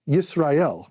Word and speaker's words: Yisrael: So we use the letter J in English, but in the Hebrew, it'd be Yezreel, which sounds like Yisrael, which is how you say Israel.